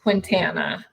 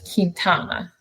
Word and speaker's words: Quintana: Well, you know, my mother-in-law made sure that I understood that my last name was not pronounced Quintana. Um, at my wedding, it was Kintana.